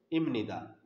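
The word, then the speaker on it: 입니다: इम इबनिदा is pronounced इमनिदा जो हम डायरेक्ट पढ़ते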